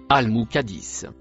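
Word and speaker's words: المقدس: Le mot en couleur marron se prononce al-Muqaddis.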